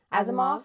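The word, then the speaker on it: Asimov: Azimoff.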